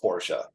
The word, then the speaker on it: Porsche: it's pretentious as it may sound it is Porsche right that is the name right it's it's real like that's how the family pronounces a name you know and that's the